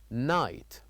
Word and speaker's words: night: So here this word night has two silent letters which are G and H. Two silent letters. G and H. So we we don't say them. We only write them here but we don't say them. We say night.